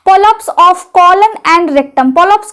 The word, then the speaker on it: polyps: हम बोलते हैं पॉप्स इसका उच्चारण किस तरह से करेंगे पो लप्स ठीक है हिंदी में आप पॉलिप्स बोलेंगे लेकिन अंग्रेजी में आप क्या बोलेंगे पॉलिप्स अब वो जो गांठ